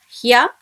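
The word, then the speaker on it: ひゃ: Ni when joins with yo should be pronounced as new. Nya, new and new. Similarly, we have hya, hyu, hyo.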